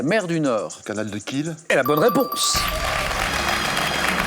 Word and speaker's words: Kiel: le canal de Kiel, K-I-E-L, qui se prononce, et vous l'avez bien prononcé, Christian, Kiel, que dire?